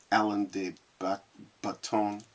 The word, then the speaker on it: Alain de Botton: regular weight of spelling Alan de baton or baton the way that he pronounced it kind of French along the Bethune something